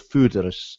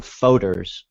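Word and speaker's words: foudre: aged in these huge wooden tanks called fudarus americans call them folders which is not how you say it's it's a sort of french word food and it's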